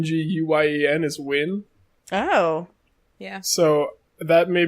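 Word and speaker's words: Nguyen: that subtle hint I've never known how to pronounce that name yeah I know I recently learned that n GUI en is win Wow yeah so that made me have no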